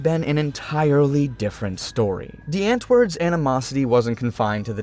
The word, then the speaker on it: Die Antwoord: It's called Die Antwoord. Name of our band is called Die Antwoord. Do you understand? It rhymes with... What does it rhyme with? Kant. Okay, so say Kant and then say Ant.